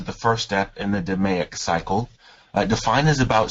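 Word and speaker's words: DMAIC: uh Six Sigma and lean complete so it's pronounced deic so say process Six Sigma practitioners follow to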